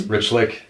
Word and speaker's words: Rychlik: It's Rhychlik. Rhychlik? It's spelled Rychlik, so it's pronounce the Y like an I, and you're good.